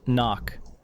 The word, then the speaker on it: NOC: Knock. Pronounced knock.